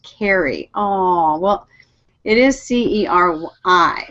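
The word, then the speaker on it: Ceri: By the way, it's pronounced carry.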